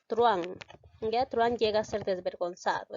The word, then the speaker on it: truhán: de silabear ya observemos truán observamos aquí en este caso dos vocales la 1 y la de te cuenta que la h no se pronuncia por lo tanto no lo cuento hay diptongo por lo